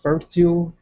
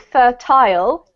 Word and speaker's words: fertile: I actually pronounce it fer tile but fertile is ok as well because that's like more like the US pronunciation so no problem ok